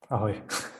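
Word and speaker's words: Ahoj: Ahoy.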